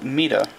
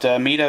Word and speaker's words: Mido: I keep wanting to call it Mido, and I was told at one point to call it Mido. So I hope that's the correct pronunciation.